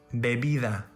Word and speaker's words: bebida: In Spanish, there is no difference between letter B and letter V. For example, bate, vaca, vapor, bebida.